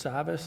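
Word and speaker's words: Savvas: also have a check from I believe it's Savas is the correct pronunciation for royalties and this is from a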